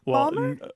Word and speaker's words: Baltimore: of the pockets where the old pronunciation is retained is that right Baltimore balore not always Baltimore but part of Maryland New Jersey and eastern